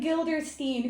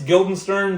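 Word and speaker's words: Guildenstern: Rosen Crans and Gilderstein who are dead. I might have pronounced it a little bad. I'm sorry. It's Gilden Stern, but that's fine.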